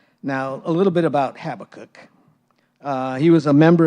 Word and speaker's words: Habakkuk: Habacook. I looked it up and different there was like three different pronunciations and I've always pronounced it Habacook and there was there's different pronunciations of of the cook part.